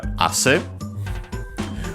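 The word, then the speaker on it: 汗: Then we have asse, which means sweat. Also moisture, condensation, but yeah, the fundamental meaning is sweat. Should be accented on the first syllable, and it is asse.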